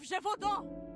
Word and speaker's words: Jeodon: The beasts of Jeodon. Okay. This is a soft soft G.